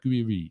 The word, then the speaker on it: Gouiri: Manu telling me you pronounce it Gouiri. Gouiri.